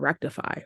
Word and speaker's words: Rektify: in a dream I kept hearing the word Rectify Rectify Rectify but it was spelled like I could see the words and the